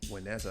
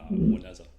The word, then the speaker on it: Juaneza: Juaneza. I was going to ask how you pronounce that. Juaneza.